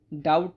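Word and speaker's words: doubt: लेकिन डाउट में B silent है। तो इसको डाउट बोलते हैं हमेशा।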